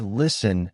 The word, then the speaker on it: listen: For example, the word listen has a silent t.